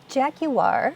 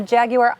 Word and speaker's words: Jaguar: Jaguar, which you pronounce with many syllables, did something extreme, and everyone hated it.